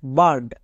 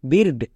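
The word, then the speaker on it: bird: এর short sound হস্তিকার তাই হলো বিগ নেক্সট বার্ড এখানেও দেখো আই ভাওয়েল তারপরে আর কনসোনেন্ট তারপরে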